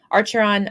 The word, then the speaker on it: Archeron: archeron I don't know archeron is how I pronounce it uh sisters yes um